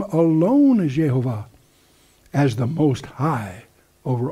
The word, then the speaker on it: Jehovah: That men may know that thou, whose name alone is Jehovah, or however you want to pronounce it, art the Most High over all the earth. And most of the rabbis won't pronounce the name, they'll just pronounce the letters, Yod Heh Vav Heh, or Yehovah, if you use the German J, and so anyway.